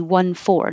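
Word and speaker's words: fourteen: that will confuse native speakers who may not catch it and think they hear the t it's going to be 1 4 the smaller number 14. so always use the d with 4 d with 14 if you want to emphasize the difference what time is it it's 3 14.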